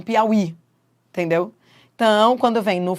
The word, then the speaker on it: Piauí: Daqui a 20 anos, se você retirar o acento de Piauí, daqui a 20 anos, qual é o risco? As pessoas falarem Piauí, Piau e não Piauí, entendeu?